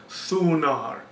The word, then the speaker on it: Thunar: The actual Proto-Germanic pronunciation of his name was Thunar. The Germans pronounced it as Donar.